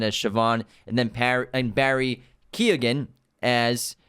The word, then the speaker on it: Keoghan: correct the pronunciation, and he pronounces it with a G in there. He's on hard record. G? He's on record saying it's the soft G, the Keoghan.